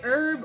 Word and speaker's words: herb: Whether you say herb or herb, technically both pronunciations are correct.